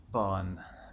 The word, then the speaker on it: Bön: encourage you all anyway bond be oh but it's the Oh with the two dots on the top and and it's like pronounced and Bolin almost like be you Ahn and it is I